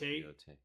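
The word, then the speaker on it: Yōtei: that you're super excited for, and Ghost of Yote. It's the first one I have on the list. That comes out. I don't know if I'm pronouncing that right. Ghost of Yote.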